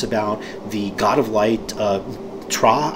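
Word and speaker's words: Ptra: In the fluff, it talks about the God of Light, Tra, I believe it's pronounced. It's P-T-R-A.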